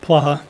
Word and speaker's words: Placha: My name is Placha. P Okay. as in person, L-A-C-H-A. The C is silent.